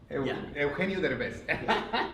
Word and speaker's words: Eugenio Derbez: Eugenio Derbez.